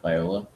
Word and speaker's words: Viola: a man who says that uh that's uh Viola absolutely uh Viola uh interesting it's spelled just like the instrument the viola but